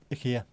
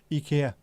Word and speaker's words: IKEA: IKEA, which is how it's pronounced as well. IKEA. Not IKEA, it's IKEA. It's amazing, isn't it?